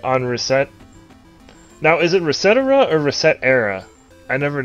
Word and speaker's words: ResetEra: But one of the mods or one of the founders of the website said on video it's Resetera.